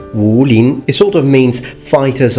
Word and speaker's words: Wulin: the name well not really the name is pronounced ruling it sort of means fighters of the forest